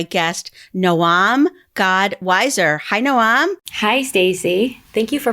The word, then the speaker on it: Noam: today with my guest Noam God wiser hi Noam hi Stacy thank you for pronouncing my name properly I really appreciate it